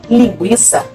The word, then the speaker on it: linguiça: o tema não dou Ou seja devemos continuar pronunciando a letra U nada de esquecer e jamais houve trema quando a letra U tem a seguida de o a longínquo legal reforçando linguiça que no passado aparecia com tema hoje não mais apresentar ao tema mas a pronúncia é a mesma afinal de contas a